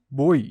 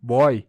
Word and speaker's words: boi: não leva acento pois o ditongo fechado boi pronunciamos boi não boy a regra das oxítonas